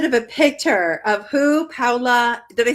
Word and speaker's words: Paola: Okay, so we have a little bit of a picture of who Paula, did I say it right? Paula?